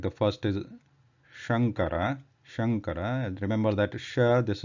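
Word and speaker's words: शङ्कर: So if it is Talavya Sha, which is the right way to pronounce is Shankara. If you use Murdhanya, then it becomes Shankara.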